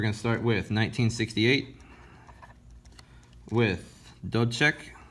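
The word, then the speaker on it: Dubček: start with 1968 with don't check which is how you say that guy's name in and we'll put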